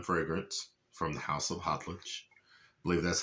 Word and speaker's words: Khadlaj: I I know a lot of people say caut because the k but in Arabic that kh uh is that it's a little weird. The k is a little silent.